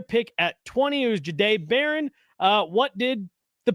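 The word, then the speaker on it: Jahdae: And then went with the JB, but then they asked and they and they asked how to how to pronounce his name. It's Jade.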